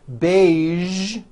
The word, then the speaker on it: beige: television very good now there are only a few words that have the voiced z sound at the end a few of these words are the color beige the word massage and the word Prestige okay now that you